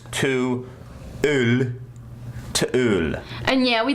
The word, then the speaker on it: To Øl: So I had to look up the pronunciation of O-L, because it's two words. It's not T-O-O-L. It's to Øl.